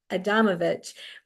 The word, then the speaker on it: Adamovich: I got to put the syllable, the emphasis on the right syllable. Jessica Adamovich, who is going to